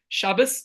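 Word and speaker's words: Shabbos: was my next topic shabus as we pronounce it in our ashkenazic or I'm originally from European extraction so that's the way we pronounce it there's different ways we pronounce Hebrew words and we don't use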